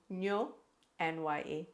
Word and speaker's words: Nyonya: That's N-Y-O, Nyo, N-Y-A, Nya, Nyonya. There isn't a corresponding pronunciation in the English language for that.